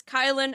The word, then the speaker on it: Kylen: Uh, as for me, my name is Kylin, otherwise known as Kyle with an N.